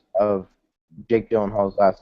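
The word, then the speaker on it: Gyllenhaal: different pronunciations of Jake dylen Hall's last name we have dylen hall and then Jack said Dylan Hall so which one is it well I say as in G so I say Gill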